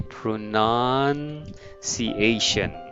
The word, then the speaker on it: pronunciation: Not noun, none. Pronunciation. Pronunciation. Pronunciation. Okay, so this time the second one is not noun but none.